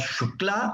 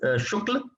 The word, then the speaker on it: Shukla: Generally, the thing accepted in Uttar Pradesh is that the male candidates, they pronounce as Shukla, and the females they call Shukla.